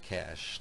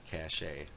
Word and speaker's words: cache: an understanding of what a cache is that's pronounced cash not cachet in short it stores